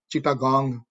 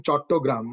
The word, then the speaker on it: Chattogram: ਮਨਜੀਤ ਜੀ, ਇੱਕ ਗੱਲ ਦਾ ਧਿਆਨ ਰੱਖਣਾ ਕਿ ਉਸ ਵੇਲੇ ਸਿੱਖ ਸੰਗਤਾਂ ਚਿਟਾਗ੍ਰਾਮ, ਜਿਹੜਾ ਕਿ British named it Chittagong, the Bengali pronunciation Chattogram.